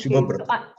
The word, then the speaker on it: Shubhabrata: You had been constantly calling my father, who is Subrata. My name is Shubhabrata.